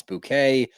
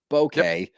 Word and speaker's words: bouquet: And she also can't pronounce bouquet. Bokeh.